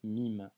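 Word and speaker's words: ميم: 9e consonne qui sera la lettre MIM le mime en arabe se prononce comme un M en français que tu retrouves en français dans le mot maman ok avant d'étudier cette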